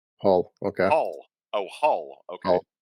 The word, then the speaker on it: Hull: called Hull h l Hull okay Hull oh Hall okay yeah oh or all as we pronounce it in our in our thickest Yorkshire accent yeah yeah so we